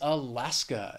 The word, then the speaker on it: Alaska: the next state is Alaska it has three syllables the stresses on that second syllable that final syllable just has that schah Alaska it is a beautiful state